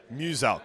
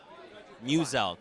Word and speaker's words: Muselk: Muselk. So it's like Muse and Elk. Muselk.